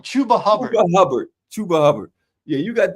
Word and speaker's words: Chuba Hubbard: Chuba Hubbard.